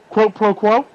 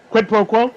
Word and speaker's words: quid pro quo: And what they were referred to it in the politics as quote pro quo, quote pro quo. I think that's how they pronounce it. Quid pro quo.